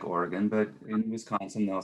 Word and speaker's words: Oregon: It's going to sound ridiculous that it's pronounced like this, but it really is pronounced like this. Oregon. You think they would say Oregon because it's spelled like Oregon, but in Wisconsin they'll say Oregon.